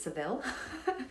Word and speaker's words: Sevilla: on where you're from, we went to Sevilla, which is, if you're in Spain, I believe that's how you say it. If anyone's Spanish on the call, it'd be like, no Michelle, that's not how you say it. Something like that. If you're from England, it's Seville.